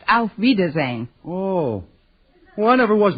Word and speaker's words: auf Wiedersehen: actually the word you have in mind is pronounced auf wiedersehen oh well I never was much gooder than